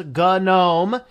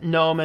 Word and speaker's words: GNOME: they are both documented the original pronunciation was gun owned based on the new but Noam is also appropriate so I will use either one throughout interchangeably just an FYI